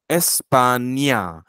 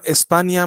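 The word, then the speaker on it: España: जी आपण केली आहे ती न आणि ज्ञ यातला फरक दाखवण्यासाठी केलेली आहे जर आपण नारांखावरती पण ती खून केली तर मग त्याचा उच्चार प्रोन्सिएशन बदलेल किंवा एस्पानिया मधल्या त्या एन वरची खूण ती आहे ती लिहिली नाही तरीही त्याचा प्रोन्सिएशन बदलेल आपल्याला त्या दोघांमध्ये फरक ठेवायचा आहे फरक करायचा आहे आणि म्हणून आपण त्या एन वरती ती एक वेगळी खून करतो असं वाचायचं आता एस्पानिया मध्ये पण ई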